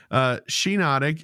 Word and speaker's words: Shiinotic: I think I did too, and then I realized one day I was like, wait, it's like the mushroom.